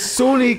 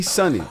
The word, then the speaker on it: Sunni: I'm but it's sun it's Sunni can be Sunny yeah it can be in in a lot of cultures a lot of people pronounce it sunny cuz you know Muslim Sunny Muslim so I I understand my